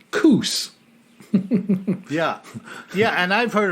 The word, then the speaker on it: Coos Bay: you have Coos Bay in Oregon that is pronounced coos yeah yeah and I've heard of Coos Bay